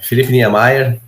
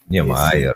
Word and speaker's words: Filipe Niemeyer: É assim mesmo a pronúncia, o Filipão? Bom dia a todos. Sim, é Felipe Niemeyer. Niemeyer, legal.